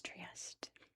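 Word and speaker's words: Trieste: I don't know why we can't say Italian cities properly in English, but that is how you pronounce it in English. It's Triest.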